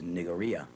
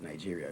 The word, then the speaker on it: Nigeria: Actually, the right pronunciation of Nigeria is Nigeria, not Nigeria. There's no J in the spelling of Nigeria. It's Nigeria, Nigeria.